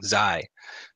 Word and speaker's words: Xi: It is pronounced Xi. See, I would have got it wrong. Xi. X-I.